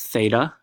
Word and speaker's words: theta: This symbol inside the triangle right here, it's I think Greek letter, pronounced theta, Theta.